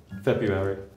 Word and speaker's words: February: You pronounce it first. February. February. Oh. February. February. February. February. In RP, February.